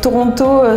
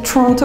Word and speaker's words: Toronto: le nom des villes par exemple Toronto certains vont le prononcer Tronto enfin ils vont le mâcher et pour moi c'est